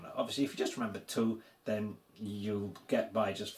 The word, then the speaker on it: tu: So, the word for here in Polish is tu. Very sharp and to the point, so it should be easy to remember.